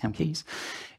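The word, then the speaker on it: CAmkES: is no alternative here whilst using camcode cam Keys I've been told it sounds pronounced chem Keys is to uh is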